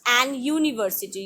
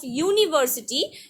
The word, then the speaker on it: university: an umbrella but not an university you will never say an university always say or university because in case of university u is vowel but it is pronounced like y okay number 10 it